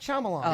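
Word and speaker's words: Shyamalan: a fan know his name pH no mlot shamalan yeah shamalan shamalan he always the twist ending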